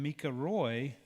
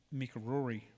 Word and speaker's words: Mika Roy: And so when Mika Roy was crowned Miss Cherokee, I have a tendency to blend and add an extra R in there. And so I want to say Mika Rory.